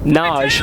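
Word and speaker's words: Nagy: Two players, Thomas Kalas of the Czech Republic and Naj, as we've been informed it's pronounced, of Hungary.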